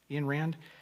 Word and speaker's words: Ayn Rand: Ayn Rand, I think that's how you say it. Ayn Rand, yeah.